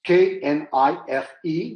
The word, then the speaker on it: knife: In that case, if we take the word knife, as we pronounce it, we do not pronounce the K that precedes the sounding of the word. In other ways, it's K-N-I-F-E, the way you write it down, but you pronounce knife.